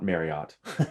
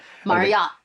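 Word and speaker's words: Marryat: captain Fredrick my yacht spelled a spell in a RR y8e so not Marriott though I met sometimes pronounce it like that Marat Marat Captain Frederick my yacht wasn't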